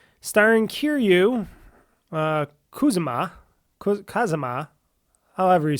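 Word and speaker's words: Kiryu Kazuma: erased his name, starring Kiryu, Kazuma, however you say his name, or it's Kazuma Kiryu if you want to go the Japanese way. You always say the last name then the first name, so he's back.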